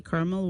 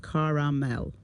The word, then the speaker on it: caramel: all sound the same where would you be from if you pronounce the word Carmel with two syllables like Carmel South Midwest East Coast South Midwest what yeah the Midwest tends to say Carmel while the east coast pronounces it caramel caramel in which part of